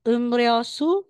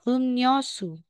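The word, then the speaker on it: 음료수: bigas natin ni real So um rosu magiging um yosu tong rong magiging tong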